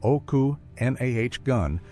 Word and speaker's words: Okanagan: pronounced oku nahh gun.